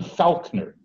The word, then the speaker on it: Falkner: And one of the last of those technically wasn't a graduate, was a young William Falkner. And I'm not mispronouncing that name. He was born F-A-L-K-N-E-R.